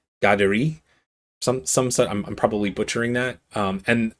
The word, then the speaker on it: Kateri: However, my understanding is that it is a Mohawk name, or has origins in the Mohawk language, and it's pronounced Gaderi.